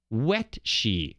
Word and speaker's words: Wetshi: Stephen Wetshi. He even puts it in here, pronounced like the first part of the word wet.